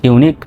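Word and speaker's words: unique: এরকম শব্দের শেষে এরকম ইংরেজি শব্দের শেষে যদি কিউ ইউ ই থাকে সেটা সমান সমান শুধু ক এই কিউ ইউ ই মিলে শুধু কয়র মত উচ্চারিত হবে বাংলায় তাহলে সি এইচ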